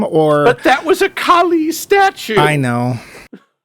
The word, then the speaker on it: Kali: And also, I can't help noticing they don't know how to pronounce Kali. No. I keep saying Kylie.